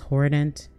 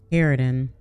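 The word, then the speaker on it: harridan: like that I said it was hant I said it wrong haridan herodin a strict bossy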